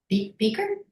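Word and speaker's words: Bieker: Beaker. Am I pronouncing it correctly? Beaker.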